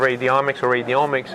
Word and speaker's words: radiomics: So this field of radiomics, as it rhymes with genomics, etc.